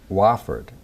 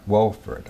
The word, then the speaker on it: Wofford: best you know uh somebody told me it's wofford it's not wilfred okay so somebody straightened